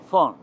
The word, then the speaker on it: von: Se llama Geo von. La V que llaman ahora es que V, o sea la B, la bidental, se pronuncia en alemán von, F, von, por eso se dice Geo von Lenguerque.